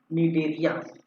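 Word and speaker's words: Cnidaria: ठीक है, या इसी को ही हम बोल देते हैं, क्या बोलते हैं भाई, निडेरिया। निडेरिया याद रखेंगे, निडेरिया या इसे हम कहते हैं निडेरिया। चलिए सी यहाँ पर साइलेंट है।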